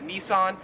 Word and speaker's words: Nissan: this car company right here so we would pronounce this in America as Nissan however here in Australia it is pronounced niss